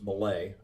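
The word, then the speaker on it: Mellé: composer y Gil Malay so I figured out how to pronounce it was Malay I had to yeah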